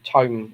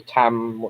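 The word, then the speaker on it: Taom: from master chalk to tone or tam however you want to pronounce it i'm using the uh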